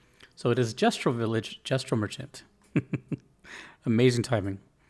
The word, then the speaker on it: Gestral: That this is actually pronounced gestro soft g. So it is gestro village gestro merchant.